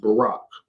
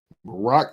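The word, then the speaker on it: Baruch: c h it's in the right but it's pronounced Barack Barack chapter 3 verse 8 now this is the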